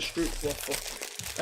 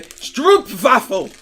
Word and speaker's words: stroopwafel: on my mug also i don't believe it's a street waffle i believe it is a stroop baffle we're about to make